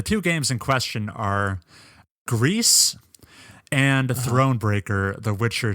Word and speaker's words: Gris: the developers on Twitter who clarified the game is spelled g r i s uh Greece is the Spanish word for gray which makes